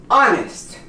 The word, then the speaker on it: honest: Or if the word begins with an H, again, this word becomes honest. The H is silent.